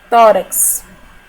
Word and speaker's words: tórax: em r tá certa tórax tórax é uma palavra paroxítona e ela recebe acento